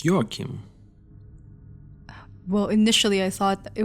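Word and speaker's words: Joachim: No, it's Yakim.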